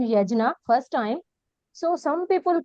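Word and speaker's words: यज्ञ: I tell you what the difference, because the Yagna Gya is a really is a compound sound with the J and N together. So it's not easy to pronounce. So that's why they in the other languages, Hindi, I know it has been Yagna, Yagna. But really authentically it's be Yajna.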